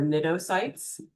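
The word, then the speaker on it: cnidocytes: You don't pronounce the C by the way. So this is nidaria and these are nidtoytes.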